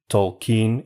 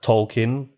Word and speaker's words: Tolkien: And yes, that's how you pronounce his name. Tolkien. It's not Tolkien. It's Tolkien. Oh, you're such a snob.